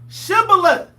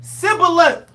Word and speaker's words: Shibboleth: And they said unto him, say now, Shibboleth. And he said, Sibboleth, for he cannot frame to pronounce it right.